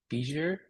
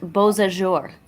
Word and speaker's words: Beausejour: You're about to get massive hail in Bijou? I don't know how to pronounce that. I think it's a French sounding name, which I definitely fail at. Brennan, it's pronounced Beausejour.